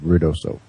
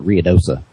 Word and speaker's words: Ruidoso: And I do pronounce it correctly. I do believe Ruidoso. People from here call it Ruidosa.